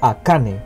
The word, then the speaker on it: ACAね: pero curiosa mujer llamada Akane, cuyo carácter hiragana se pronuncia como Ne. Akane posee una voz muy